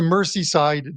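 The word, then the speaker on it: Merseyside: and uh it's the mercy side Derby correct have I pronounced that correctly Mercy side Derby yeah more of a z sound I think okay okay all right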